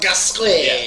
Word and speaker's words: Gasquet: How do you pronounce that name? Jacques Gasquet. Yeah, that one.